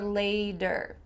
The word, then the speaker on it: later: Does it sound like later or lader? Sounds like a D here and this is common in American English that when you have